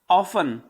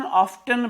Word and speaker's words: often: एक और एडवर्ब है आपका ऑफन, OFTEN। कुछ लोग इसका प्रोनाउंसिएशन ऑफ्टन भी करते हैं, ठीक है ना।